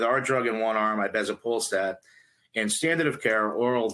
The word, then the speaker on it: ibezapolstat: How do you pronounce this? Ibezapolstat. Ibezapolstat.